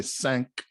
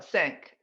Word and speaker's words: cinq: So it'd be, but they don't say Cinco, they say cinq. It's not Cinco in French, right? It's Cinq de Mayo. No, sink.